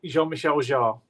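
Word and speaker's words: Jean-Michel Jarre: that's Michael though not Michelle that's Michael it's pronounced Jean-Michel jar yeah yeah Michelle there you go Jean Michelle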